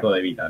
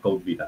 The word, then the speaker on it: CodeVita: codevita por si acaso se pronuncia cod Vita No c Vita No codevita [ __